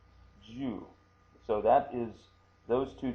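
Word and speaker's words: 柔: Chinese derived pronunciation of the word Ju, or New, but in our case G-U. That's she with the two tick marks. Shi-yu, that's you in katakana. Ju, that's the pronunciation.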